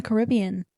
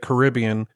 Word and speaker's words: Caribbean: So they pronounce it Caribbean, but if you've ever been to the Caribbean, the locals actually refer to it and they pronounce it as Caribbean.